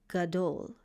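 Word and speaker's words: גדול: This word is gadole. Gadole. And let's see how to pronounce it.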